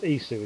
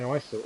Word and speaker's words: Isu: his axe instead oh it's pronounced isu is it i would say iso always happen okay is